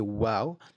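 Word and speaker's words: و: So when you say wow, your lips need to come rounded.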